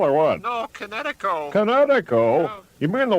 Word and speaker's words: Kinetico: remembered kinetic as in kinetic energy with an O on the end. Kinetico.